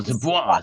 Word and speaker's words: Dubois: it's really it's not even supposed to be pronounced with a D. It's Dubois. That's how you really pronounce it. Oh, Dubois.